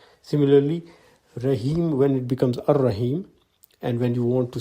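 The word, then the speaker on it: الرحيم: Similarly, when you add Al to Rahim, the Al-Rahim is pronounced as Ar-Rahim. The L goes silent.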